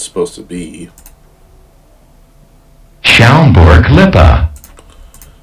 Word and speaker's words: Schaumburg-Lippe: Schaumburg-Lippe. Schaumburg-Lippe. So I definitely would have butchered that.